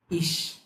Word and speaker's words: Ich: তো হচ্ছে ফার্স্টে আমরা হি বলবো। হি, হি, হি বলার সময় জিহ্বার অগ্রভাগ তালুর সাথে লাগানো ট্রাই করব। হি, হি। এবার হচ্ছে তার শেষে একটা সফট এস যুক্ত করব, হিস, হিস। এবার হচ্ছে সামনে আমরা ই প্লেস করে দিই, ইস, মিশ, জিস।